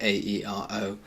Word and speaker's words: aero: So whereas we'd say A-E-R-O, like an aeroplane, we just say aeroplane, air. In Spanish, we do have to pronounce both of those vowels separately.